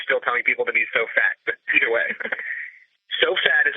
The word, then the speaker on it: SOFAT: And if you spell it out, it would sound like SOFAT, SOFAT, SOFAT. And if you want to blog, you need to be so fat.